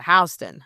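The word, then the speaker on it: Houston Street: Uh in Texas there's a Houston and in New York there's a Hston.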